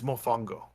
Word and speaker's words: mofongo: mashed potato kind of out of them that's mofongo if i'm saying that correct i don't know